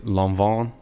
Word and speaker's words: Lanvin: uh out to me they all say it's lon vaughn something like that l-a-n-v-i-n so yeah i